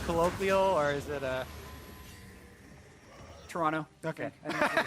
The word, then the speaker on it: Toronto: I was told actually by a tweet it's pronounced Toronto with no uh no T oh yeah today